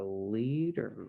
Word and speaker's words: Lied: the wild kingdom of the lead jungle where and it's about so it's spelled like l-i-e-d but yes so this